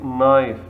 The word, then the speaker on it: knife: say knife we say knife K is silent D is silent for